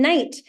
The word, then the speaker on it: Knight: used to or like my last name night that's extremely uh like British classic British word with a silent k and the ght at the end and so when in